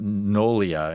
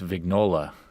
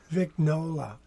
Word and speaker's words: Vignola: his name wrong well it's not noia it's vignola vignola like like a okay Nola anyway um he attended